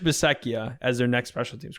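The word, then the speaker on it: Bisaccia: in on rich basset how do you say his name besetjia the ra the raiders in term right i think it's beseckia i think besecchia yeah rich bisekia as their next special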